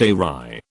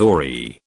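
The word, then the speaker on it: awry: side the word back quota ry is actually pronounced a wry i used to read it as ori and thought these were two separate words for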